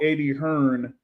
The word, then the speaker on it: Hearn: But it's pronounced Anthony Yard, not Yardy. Okay. Uh, those might be the same fans that call Eddie Hearn Eddie Hearns.